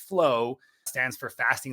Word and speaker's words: FLOA: So FLOA is pronounced flow, stands for fasting like our ancestors.